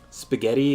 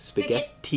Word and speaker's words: spaghetti: See, the thing is, like, with double T, I think of it as, like, in the Italian sense, where you're supposed to go, like, spaghetti is, like, spaghetti. Yeah, it's like, you pronounce both T's.